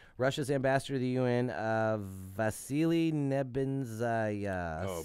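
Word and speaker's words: Vasily Nebenzya: At the Security Council meeting Saturday morning, which was this morning, Russia's ambassador to the UN, Vasily Nebenzaya, Oh, said beautiful. that, You nailed that pronunciation.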